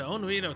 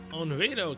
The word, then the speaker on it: Onriedo: Onriedo Castle? Onriedo. Paraiso mentioned that I suppose the last part does rhyme with Edo Castle.